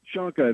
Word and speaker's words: Shonka: Shanka, that's perfect.